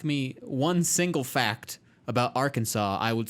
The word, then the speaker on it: Arkansas: one single fact about arkansas i would say it's not pronounced like kansas that's true america explained